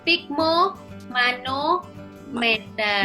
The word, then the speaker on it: sphygmomanometer: Tapi pengucapannya masih ini ya. Sphygmomanometer.